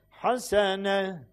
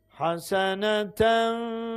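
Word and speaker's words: حسنة: Haseneten ve qina azaben nar. Evet. Haseneten ve qina. Güzel. Anladık mı şimdi? Demek ki geçerken telaffuz ediyoruz ama kalırken orada vakıf yaparken o yuvarlak T'yi ha sesine çeviriyoruz.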